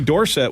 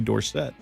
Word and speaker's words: Dorsett: It was Tony Dorsett when he won the Heisman Trophy, and then when he got to the Cowboys, he changed it to Tony Dorsett.